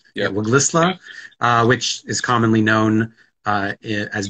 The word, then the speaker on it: Waglisla: Did I pronounce that correctly? Yeah, Waglisla, which is commonly known as Bella Bella in British Columbia.